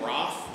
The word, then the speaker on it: Ralph: He actually pronounced his name Roth, which is, I've always struggled with. It's Ralph, it's fine by me.